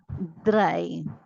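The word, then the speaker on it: drei: as S is to again I have EI I so this becomes I dry okay wherever you have EI I I take a sound of I whereas in the next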